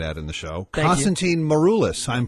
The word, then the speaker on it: Maroulis: well I might add in the show Constantine maruis I'm pronouncing that properly yes beautiful thank you Jonathan